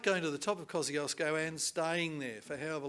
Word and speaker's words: Kosciuszko: thousand meters so it's like going to the top of kosciuszko or kosciuszko as my polish friends tell me it should be pronounced it's like going to the top of kosciuszko and staying there for